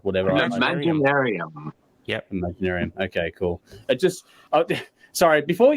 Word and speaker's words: Imaginaerum: I don't know how the fuck you pronounce that thing. It's just like whatever. Imaginarium. Yep. Imaginarium.